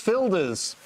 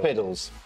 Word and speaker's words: Fildes: And I remember you mispronouncing his name once before. Ooh. James Fildes. Fildes. What would I have said? Fildes. You said Fiddles.